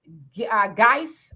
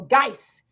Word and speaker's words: Guice: Ashonda, you says, hey, Sister Demetria, is pronounced Guice. Okay, there you go, Guice.